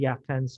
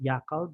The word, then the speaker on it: Yakan: And of course, you have the Yakans of Basilan. The Yakans of Basilan sometimes mispronounce the word as Yakal by the Spaniards, but during the colonial period, the Spaniards branded the inhabitants of Basilan as Yakan, and it became carried up to the present.